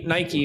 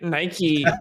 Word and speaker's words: Nike: stop it in Nike Nike which is the correct pronunciation by the way Nike they they started as